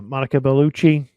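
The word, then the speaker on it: Monica Bellucci: it make a cameo that was awesome uh Monica beluchi did I say her name right yep no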